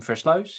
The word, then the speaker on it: Versluis: And then some unpronouncable last name. Floouse if you want to have an attempt try to do it.